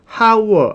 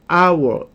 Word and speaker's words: hour: 자음으로 시작한 단어라 해도 그 자음이 발음이 안 나는 무음인 경우가 있었죠. Hest 아니고 honest how 아니고 our 요렇게요. 자 이렇게 자음이 발음이 안 나 그러면은 없는 거지. 발음이 기준이니까 발음 만나면 없는 거예요.